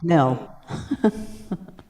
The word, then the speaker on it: Nell: Rhymes with hell. Nell.